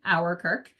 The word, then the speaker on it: Ouwerkerk: about later but uh it started as a way to help people pronounce my last name our Kirk um but it has